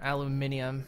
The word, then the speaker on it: aluminium: Or aluminium, or however you savages say it. Aluminium. The way God intended. I'm sorry, it's spelled aluminum on my screen.